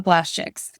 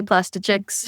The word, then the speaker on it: PlastChicks: But now people do refer to us as the plast chicks. Yeah. Or plastic chicks. A lot of times people say plastic chicks.